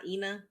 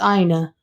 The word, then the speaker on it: Ina: yes i know it's pronounced it's not ena no it's aina now you got me think double guessing but